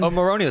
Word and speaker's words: Omorodion: Omorodion.